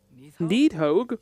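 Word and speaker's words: Nidhogg: Those are leaned worms, the brood of Neathhogue. Needhogg? That's the mother? Is that how that's Correct.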